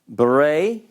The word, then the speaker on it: Bereshit: So you're going to say Bereshit. Bereshit. Now this actually coalesces with the aleph, so this is one syllable. It's Bereshit.